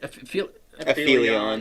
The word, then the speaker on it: Aphelion: Aphelion.